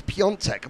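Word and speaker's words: Piątek: It's Piontek, Max Piontek. That's because of that small sign at the A? Yes, the accent on the A.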